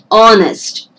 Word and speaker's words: honest: see the first sound honest that the h is silent the first letter is